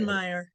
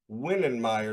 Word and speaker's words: Wittenmyer: How do you say Whitmer Witten Meyer is how we're going to say Witten Meer. That's Yes. Oh, I'm sorry. I did I left my TE's out.